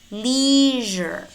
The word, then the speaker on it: leisure: casual it is not casual it's casual casual leisure leisure usual usual invasion invasion invasion collision collision